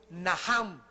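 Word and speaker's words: נחם: el Antiguo Testamento es naham en el hebreo que se escribe nachan la ch en el hebreo se pronuncia como j y significa cambiar la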